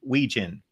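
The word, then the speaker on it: Wetjen: Caden Weegan. Weegan. Weegan. Okay. Yeah. Weegan. So the T's actually silented. Yes. I believe Okay. I'm pronouncing that correctly.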